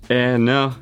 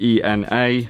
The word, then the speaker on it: ENA: This brand is pronounced ENA, as in sort of like E for elephant, rather than ENA, so ENA.